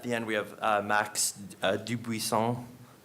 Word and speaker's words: Dubuisson: So on the panel, at the end we have Max Dubuisson. I assume that's how we would pronounce it in Canada. It should be that French. Yes. I just say Dubuisson.